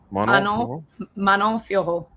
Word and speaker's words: Manon Fiorot: Manon Fiorot.